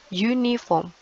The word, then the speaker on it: uniform: kita pakai atau n sekalipun huruf awalnya UU vokal tapi kan cara bacanya bukan uh tapi you uniform kan seragam itu tulisannya